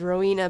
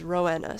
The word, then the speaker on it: Rowena: And I know some people pronounce it as Rowena, but I pronounce it as Rowena, so like more emphasis on the W. No, the E, I should say.